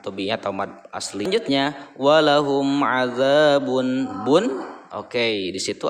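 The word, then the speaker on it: وَلَهُمْ: Walahum, cara membacanya idhar jelas ya, walahum jelas, dan kedua bibirnya itu tertutup.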